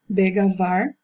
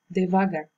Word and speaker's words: devagar: E por último, degavar, que a forma correta é devagar.